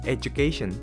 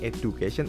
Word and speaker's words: education: Mungkin kebanyakan orang akan sebutnya education, padahal yang benar ini adalah education, kayak huruf J gitu tengahnya. Jadi education, bukan education, itu salah, nggak pakai D.